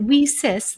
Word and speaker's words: WiCyS: acronym we sis and we spell that w-i-c-y-s and pronounce it we cis like we sisters because that's exactly what